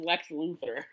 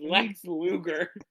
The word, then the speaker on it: Lex Luger: Would you please pronounce it properly, Frankie? I'm not calling him Lex Luthther. It is Lex Luger.